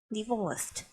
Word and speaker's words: divorced: ออก เสียง นะ คะ เสียง ท้าย เห็น ตัว Ed ใช่ ไหม คะ divorce เรา จะ ออก เสียง เป็น เสียง T เนาะ เป็น divorce แล้ว ก็ เติม เสียง เถอะ เข้า ไป อ่ะ ลอง ฟัง อีก ครั้ง ค่ะ divorced ส่วน คำ ข้าง บน